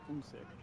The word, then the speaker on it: Usyk: It's Alexander Usyk. Yes. Is how you pronounce his name.